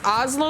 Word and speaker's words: Oslo: And I always be like, you know, like Oslo, like the capital of, what is it, Norway?